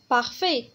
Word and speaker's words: parfait: parfait بارفي تي هنا كذلك موي ما كتنطقش، هي مثالي يعني واحد لا بيرسون مثالي ما فيهاش العيب، يعني كل شيء فيه مزيان.